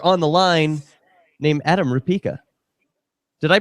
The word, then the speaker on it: Rupeka: But don't do that right now because we've got a very special cop blocker on the line named Adam Rupa. Did I pronounce that correctly?